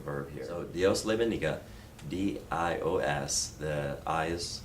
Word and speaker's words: bendiga: So I is pronounced hard E, E is pronounced hard A, and then bendiga. And stress is on the second to last syllable typically.